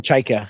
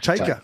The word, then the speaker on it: Chayka: I will say this about How do you say his last name, Chechkin? Is that how you say it, Johnny Chechkin? I say I call him Cheika. Cheika.